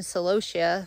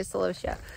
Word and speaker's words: celosia: go through that one I've been saying celosia for I don't know how long in my life and I did a Google pronunciation and it's celosia I don't even know